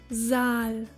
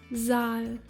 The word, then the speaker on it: Saal: Double A, as in Saal. Saal, meaning hall.